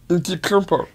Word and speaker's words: Antetokounmpo: Antetokounmpo. Yeah, I never knew how to pronounce it.